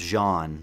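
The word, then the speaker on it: Jaune: someone and they said John Arc or something like that, and I was like, actually it's supposed to be pronounced Jean, but whatever.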